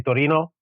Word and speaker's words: Torino: I come from Italy, from the northern of Italy, specifically Torino or Turin, if you want to pronounce in English.